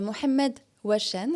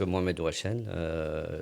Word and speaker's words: Mohamed Ouachen: C'est Mohamed Ouachen. Est-ce que je l'ai bien prononcé?